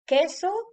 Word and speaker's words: queso: No se pronuncia cuando la U está entre la Q y la E o la I. Aquí tenemos el ejemplo de la palabra queso y la palabra Quijote.